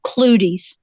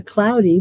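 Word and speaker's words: clouties: flags and they're called clooties and I spell that c-l-o-u-t -i-e -e-s is the plural occludies I always called it a cloudy because of the way it was spelled well and some people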